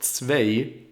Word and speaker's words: zwei: Don't forget that the EI in German is pronounced like an AI. It's not zwei, it's zwei.